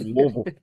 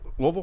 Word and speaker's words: Louisville: Louisville. Is that how you guys say it? Louisville.